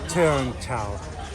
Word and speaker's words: Cheung Chau: Okay, I'm trying to get this pronunciation correct. I like this. Cheung Chau.